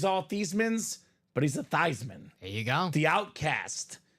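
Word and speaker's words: Theismann: need a catch phrase we're gonna change your last name from thian to thyman thyman for the Heisman genius he was a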